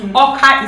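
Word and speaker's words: Awka: you come to anra Oka is spelled a WKA these are all spellings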